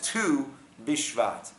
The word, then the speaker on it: Tu B'Shvat: No, it's not on the 1st of Shvat, it is on the 15th, known as Tet Vav, pronounced as 2 Bishvat.